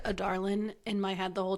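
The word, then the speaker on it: Adarlan: of otland is here it's spelled in the book like a Darlin but uh no they sayland it's a d a r l a n but it really sounds like otland yeah I said a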